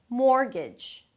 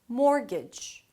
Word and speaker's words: mortgage: The T there is silent, it doesn't really exist, only in the spelling. "More", like 'gimme more', "more" and "g'j" "g'j" "g'j". Mortgage. Mortgage.